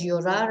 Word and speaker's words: llorar: Remember our double L pronunciation is a y sound.